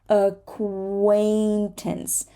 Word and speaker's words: acquaintance: a c q okay a-c-q acquaintance acquaintance we say the Q which is not there